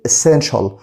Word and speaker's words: essential: التي اي اي هنا برضو نطقناها شه، فبنقول essential.